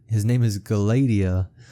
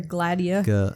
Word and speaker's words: Gladia: Yes, his name is Galadia, Gruer pronounced in 3 syllables, accenting the second.